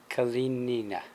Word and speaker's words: Kalinina: Thank God the lady next to me is as pretty as she is, because pronouncing her name is brutal for me. Okay, so with me is Anna Kalinina.